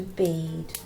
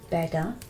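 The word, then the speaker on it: Bede: so we're going to turn to bead or better as you probably should be pronounced and we're going to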